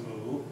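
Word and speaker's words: 木: right so you have the Chinese character for for tree which is pronounced moo and I should I'm not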